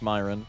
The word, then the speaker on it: Myron: I forgot how you told me to pronounce it. It's Myron.